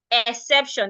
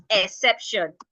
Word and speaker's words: exception: e EX word so it's not exception which is the normal thing we hear people say exception it is not exception the word is pronounced exception we're stressing the SE so if I want